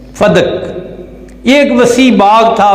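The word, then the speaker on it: فدک: کو کہتے ہیں فدق، اور اس کا جو تلفظ ہے یاد رکھیے فدق نہیں ہے، فا پر بھی زبر ہے، دال پر بھی زبر ہے، فدق۔ یہ ایک وسیع باغ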